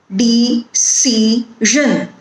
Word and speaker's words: decision: So if you have a word like decision, the stress is on C, decision.